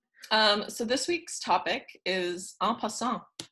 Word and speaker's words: en passant: So this week's topic is en passant. It's French. I will spell it for you.